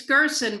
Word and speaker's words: Gerson: Do I say that right, Gerson? It's Gerson, but I'm easy about how people say my name.